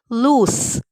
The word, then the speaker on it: loose: pronunciation of these two words people often even pronounce them wrong the first is loose sound loose and the second is lose sound lose what's